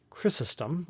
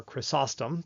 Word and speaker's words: Chrysostom: granted by for instance John Chrysostom or Chrysostom depending on what school of pronunciation you're from he wrote a sermon